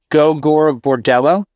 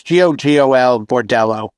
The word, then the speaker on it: Gogol Bordello: You know, you heard of Gogol Bordello?